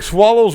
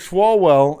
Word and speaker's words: Swalwell: who's gonna be president eric swallows well i'm sorry i mispronounced that eric swalwell in uh california apparently